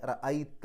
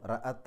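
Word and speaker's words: رأيتَ: അങ്ങനെ റൈത്ത എന്നാകും. റഅത്ത എന്നല്ല റൈത്ത നീ കണ്ടു എന്നർത്ഥം.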